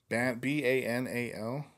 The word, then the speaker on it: banal: what does battle mean and how do you pronounce it b-a-n-a-l but no banal it's really commonplace and often